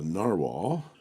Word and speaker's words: Nahvalur: and this is the Narwhal I'm going to spell it both ways English and Icelandic and they're both pronounced the same original Plus rainbow R